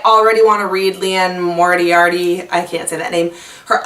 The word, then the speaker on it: Moriarty: lies by land more mortuary on how to say her last name mortuary that's really not a good last name Moriarty that's Leanne Moriarty and it's married by